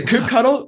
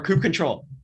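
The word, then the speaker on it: kubectl: a milk cattle actually i thought like all this time i pronounced it as this ctl not cuddle like cube city or not cuddle up to you yeah it's a cube cuddle or crib ctl or coupe control yeah control okay let's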